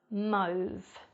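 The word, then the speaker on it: mauve: four we've got move move now this one I think is confusing because we've got the a and EU but the sound really sounds more like an O sound instead and mo is actually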